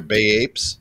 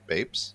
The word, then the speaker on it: Bapes: They're Bay Apes, right? Bapes? Yeah.